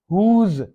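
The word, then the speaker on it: whose: हुज, किसका, हुज book वगैरह, तो ये हुज डब्ल्यू साइलेंट है।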